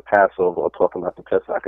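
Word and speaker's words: פסח: So when we read in Exodus and in Deuteronomy, when they talk about the Passover or talking about the Pesach, as it's pronounced in Hebrew, that's talking about the sacrifice.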